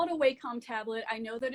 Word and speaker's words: Wacom: was using a um i call it a wacom tablet i know that it's technically pronounced wacom but i refuse um but i was using